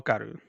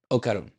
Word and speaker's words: Okarun: How do you say his name? Because she was saying it different in there, and I have it written down different. So, Okokun or Okaru? Okarun. Yeah, Okay. Okaru. Okarun. Okay.